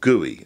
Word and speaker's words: GUI: a graphical user interface GUI or GUI as is pronounced when you finish investigating